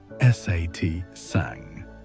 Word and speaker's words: satsang: The ancient texts describe this kind of community as satsang pronounced satang which literally means association with truth or gathering with the wise.